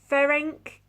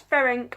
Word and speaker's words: Ferenc: got is Metropole by Ferenc Corinthi. I wonder if that's Ferenc or whether it's Frank Corinthi, and that's how it's pronounced, but that's how I'm saying it as it says on the book.